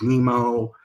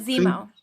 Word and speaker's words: Zemo: get the backstory of nemo nemo right baron am i pronouncing that right zemo berenson fish that's right